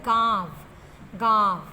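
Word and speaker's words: गाँव: बिंदु लगाएंगे अभिलाषा है घाव का जो सही उच्चारण वह गांव-गांव तो इसमें भी चंद्रबिंदु का प्रयोग होगा घर पर दक्षिण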